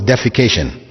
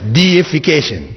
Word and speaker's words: deification: that word in English, please don't pronounce it as defecation. Right? Because that has a whole different meaning altogether. It's deification, which means making something or someone a god.